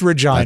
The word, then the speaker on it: Regina: And it's pronounced Regina.